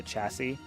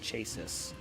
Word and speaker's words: chassis: I'm guessing probably no since it's not built into the chassis. Pup quiz, how old were you when you learned that it is pronounced chassis and not chases?